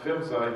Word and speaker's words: PHMSA: material safety agency which phmsa usually pronounced fibside here oh save a